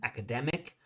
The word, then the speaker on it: academic: I think she said instead of academic academic academic the correct pronunciation, the correct stress is academic.